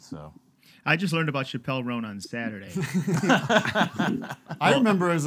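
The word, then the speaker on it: Chappell Roan: little riff uh where I was saying uh Chapelle Ron like Chappelle Show Chapelle chel rone but then somebody point out it's not pronounced that way I can't do it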